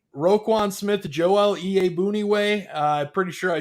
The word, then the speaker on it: Iyiegbuniwe: So you look at your inside backers, Danny T, Roquan Smith, Joel Iyiegbuniwe.